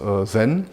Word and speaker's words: zen: terme de méditation diana et un japonais ça se prononce zen et un certain nombre